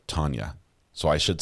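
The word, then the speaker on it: Tanja: is pronounced tenia but you say it like Tanya so I should say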